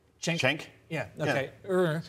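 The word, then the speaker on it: Cenk: Chenk? Yeah. Okay. Yeah. Chenk.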